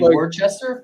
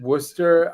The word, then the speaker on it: Worcester: We call it Worcester. I don't know how that happened, but that's how we pronounce it.